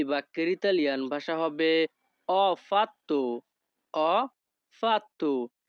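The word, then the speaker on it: ho fatto: Italian ভাষা হবে অপাত্য অ ফাত্তু Italian ভাষাতে এইচ ও এর উচ্চারণ হবে অ যখনই আমরা ইতালিয়ান ভাষায় কাউকে বলতে চাইবো আমি করেছি তখন আমাদেরকে বলতে হবে অফাত্য আমাদের পরবর্তী বাক্যটি আছে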